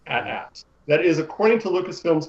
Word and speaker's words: AT: I can see Brian's about to explode, but according to Lucasfilm themselves, the correct pronunciation is rhymes with hat. It is at.